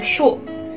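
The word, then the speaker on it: 竖: Lalu untuk garis yang ke bawah itu dibacanya shu.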